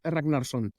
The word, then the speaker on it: Ragnar: the proper pronunciation is Ragnar it's beautiful I cannot roll an R like that so we just won't